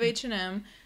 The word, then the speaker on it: H&M: all know we love H&M because it's cheap and trendy there you go that's where you go h& M just pronouncing the two letters as they are in the English alphabet yep number 23 Jack